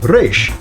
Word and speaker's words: Resh: Well, the 20th letter of the Hebrew alphabet, Raysh, is pronounced this way.